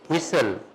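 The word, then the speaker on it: whistle: ठीक है इसी तरह विस्टल तो नहीं ना पढ़ते बोलिए क्या पढ़ते हैं विसल ठीक है और विसल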